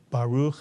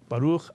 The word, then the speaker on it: Baruch: little bit of Ashkenazic, you want to say, Baruch Atah Adonai, be my guest, and no one should make you feel like you're saying it wrong. But the pure Sephardic Hebrew would be Baruch Atah Adonai.